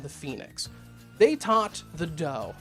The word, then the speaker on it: Dao: They taught the Dao. Spelled "d-a-o", but it's pronounced "Dao", which means the way.